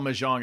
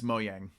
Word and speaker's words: Mojang: By the way, it's not even called Mahjong. It's Mojang.